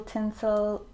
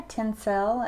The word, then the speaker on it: Tencel: with just a little tinsel in there tencel actually is the proper way to pronounce that tencel is a man-made